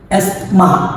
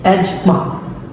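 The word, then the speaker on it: asthma: এটা হবে buffet buffet দেন আমাদের আছে এসমা আমরা প্রায় সবাই বলি এরকম এটা রং এটা হবে এজমা এজমা দেন আমাদের প্রায় আমরা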